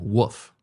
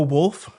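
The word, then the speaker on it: Wulf: Bo Wolf. Yeah, it's pronounced like the animal.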